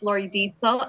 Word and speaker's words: Lori Deitzel: No, you were pretty close, and thank you for having me. It's Lori Deitzel, and I, too, was really jealous of the little ninja thing.